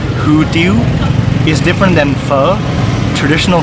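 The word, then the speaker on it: Hủ tiếu: who do you mean so this is a type of pho from South Vietnam is pronounced who do you is different than pho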